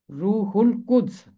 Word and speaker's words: روح القدس: کے لام کے ساتھ، کیونکہ الف لام کے بعد قاف حرف قمری ہے، اس لیے لام کی آواز خاموش نہیں رہے گی، ہے ملے گا لام